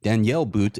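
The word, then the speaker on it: Daniil But: if see Michelle and Daniel boot or Danielle boot as see Michelle himself pronounce it so maybe that is how we pronounce it um if they don't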